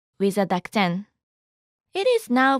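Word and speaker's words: で: Let's modify t with a den. It is now pronounced as de tag is written in one stroke.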